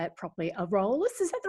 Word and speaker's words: Aurealis: He's one of the co-publishers of, I can't never say it properly, Aurolus. Is that the right way to say it, Michael? Aurealis, Australia's longest running fantasy and science fiction magazine.